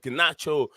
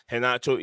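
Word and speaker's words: Garnacho: Anthony uh Bruno pandez gacho sorry it's not gacho haach is the name the r pronunciation is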